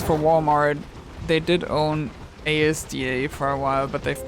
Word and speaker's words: Asda: Okay, I'll pronounce it Asda then.